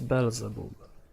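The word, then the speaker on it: Beelzebub: driving bezel boop though maybe i should say bilzebap i think that's the proper pronunciation i get too used to the polish one because in poland it's belzebub and as i understand in english it's bill zabab so yeah we will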